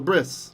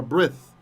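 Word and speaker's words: ברית: called the bris right bris that's just because ashkenazim translate transliterate the Tav when there's no dot as an S sound that's why so breeds it's breeds right or brith in ancient pronunciation that's why Bene barith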